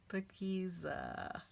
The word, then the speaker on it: Paakezah: uh and what did i say b it's spelled p a k e e uh oh sorry guys pakeeza right yes so i'm just going to leave